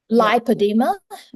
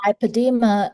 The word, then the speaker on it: lipoedema: Lipodema is different. So lipadeema um is spelled differently. So actually lipadema l i p o e d e m a.